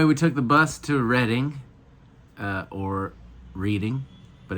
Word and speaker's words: Reading: So anyway, we took the bus to Reading, or Reading, but it's definitely Reading. It's spelled like What's the Reading.